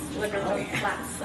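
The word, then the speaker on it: LeBreton Flats: Le Breton Flats. À Ottawa, je ne sais pas comment le prononcer.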